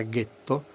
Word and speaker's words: ghetto: È ben noto che nella primavera del 1516 a Venezia è nato, nella zona detta del getto nuovo delle fonderie, per gli ebrei tedeschi la pronuncia era ghetto, appunto il ghetto più antico al mondo.